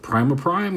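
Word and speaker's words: Prima Prime: of primer prime who I now know is in fact pronounced primer Prime and is it dude I was saying primo before only because when I see that word I think like prima donna which means you think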